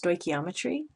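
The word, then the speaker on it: stoichiometry: this word here is pronounced stochiometry chemical equations products reactants and phases solid magnesium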